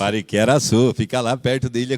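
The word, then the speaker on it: Pariquera-Açu: na verdade para como que é isso aqui Pariquera suu É isso mesmo pronúncia Pariquera suu fica lá perto da Ilha Comprida eu não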